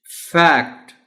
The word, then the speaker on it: Fact: Fact. Honorable teacher, इस word में जो खास बात है वो ये है कि इसको थोड़ा सा लंबा करके पढ़ना है। आप फैक्ट नहीं कहना, ए साउंड है बट a little long sound.